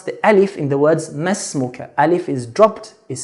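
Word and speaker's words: ما اسمك: If alif is in the middle, it should be skipped, silent. So masmuka and not ma ismuka, which is very common mistake. So masmuka.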